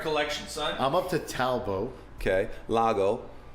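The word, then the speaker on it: Talbot: Talbo, I have heard of that. Lago tear drops. S A L B O T. Yes, but the T is silent.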